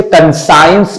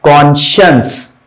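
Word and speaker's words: conscious: साइंस पढ़ दे या बहुत से लोग थोड़ा और मॉडिफाई करते तो कन साइंस पढ़ लेते पर इसका सही प्रोनंसिएशन क्या है कॉशस कॉशस तो सीएसआई के लिए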